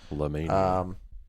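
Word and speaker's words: Llamania: Why are you having such difficulty pronouncing because it's spelled like llama but merged with the word mania. La Mania.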